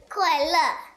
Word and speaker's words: 快乐: 快乐 Yes, 快乐,快乐.